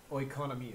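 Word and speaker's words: οἰκονομία: Pronounce that word for me, Travis. Oikonomia.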